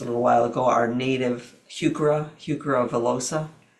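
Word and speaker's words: Heuchera: you spell that it's h e u c h e r a hukura oh okay v i l l osa that's are native.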